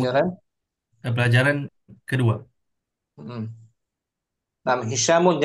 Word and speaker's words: هشام: Nah, Hishamun jangan Hashim ya. Bacanya Hishamun. Jangan dibaca Hashim.